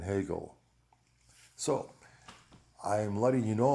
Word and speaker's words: Hegel: done my homework and the correct pronunciation is descartes spinoza leibniz schopenhauer and hegel so i'm letting you